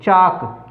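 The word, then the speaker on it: chalk: इसी प्रकार से CHAL के में चालक नहीं बोलना, इसको चाक। क्यों? क्योंकि जब इसके साथ के जोड़ा गया तो एल और के जहाँ भी होता है वहाँ पर एल साइलेंट रहता है।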